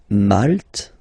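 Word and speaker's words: maltais: So here final s not pronounced for the masculine form and then you pronounce it here for the feminine form.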